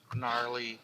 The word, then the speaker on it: gnarly: gnarly right gnarly g somehow is silent yeah gnome gnarly tree is it because